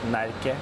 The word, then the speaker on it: Närke: It has this A with 2 dots over it, so it's pronounced Närke.